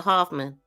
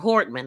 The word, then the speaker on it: Hortman: He next drove to the home of Speaker Emorita and Representative Hoffman of Melissa Hoffman or Hortman. I keep saying her name wrong.